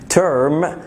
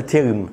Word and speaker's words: term: كلمة term، اوكي، الاي ار في الانجلش احنا بنقولها ترم، بنكسر الاي ار خالص، ضم الاي ار شويه في الانجلش، ترم وميد ترم.